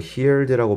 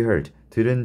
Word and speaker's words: heard: 쓰면 됩니다 heard 자 이거 hered라고 발음하는 친구들 많은데 heard입니다 have you heart 자 너는 have heard들은 적이 있습니까 뭐에 관해서